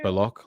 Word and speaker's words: Baloch: It's pronounced Balok like chocolate. You can pronounce it any way you want. Balok?